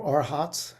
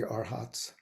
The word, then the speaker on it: arhat: all aspire to be arhats um or if you like to pronounce it in poly arahant I kind of like arhat myself um next is a